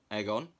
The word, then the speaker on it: Egon: So we've got an Extreme Ghostbusters Egon. Yes, I know it's Egon. I'm going to keep saying it wrong because I find it funny. Egon, like egg on toast.